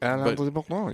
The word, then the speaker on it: Alain de Botton: Alain de Botton.